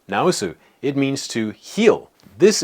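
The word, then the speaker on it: 治す: For example, this is pronounced naosu.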